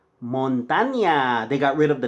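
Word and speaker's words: Montaña: States actually named in Spanish but you don't pronounce it properly you say Montana but it's not Montana it's Montaigne they got rid of the deal they over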